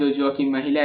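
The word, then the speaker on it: Mæhle: with his name but i feel it is pronounced jojo mahila i've seen him playing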